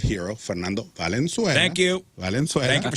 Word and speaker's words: Valenzuela: Valenzuela.